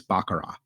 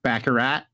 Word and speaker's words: baccarat: interesting to to talk about and it is bakara the tea is silent bakara it's not backarat it's not backarat backat it's bakar bakar can